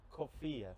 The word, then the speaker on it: Coffiyeh: It's actually Kofia.